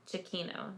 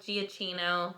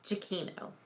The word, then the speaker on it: Giacchino: That is how you pronounce it, according to IMDb. Giacchino. Not Giacchino, not Frappuccino, not Gianelli. Giacchino. Like Pacino, but Giacchino.